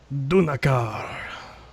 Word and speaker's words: Dunar: the high Mages name how's it pronounced dunar but you know Elvish and flowy not orcish not orcish by the way he